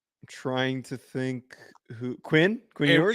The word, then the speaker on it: Ewers: Quinn Ewers? Yeah, it rhymes with sewers.